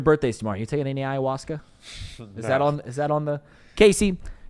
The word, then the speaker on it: ayahuasca: I don't know how to pronounce it, so okay. Ayahuasca.